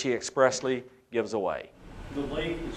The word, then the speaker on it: Leif: The Leif is spelled L-E-I-F.